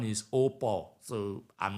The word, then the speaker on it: au pair: the US is by is what is called AP uh op Visa I mean is a is a French word the the spelling is au space p a u i u p a i r like like pair when